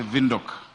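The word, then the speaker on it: Windhoek: good friend Queen the mayor of Wok Namibia they say they say vok uh we need to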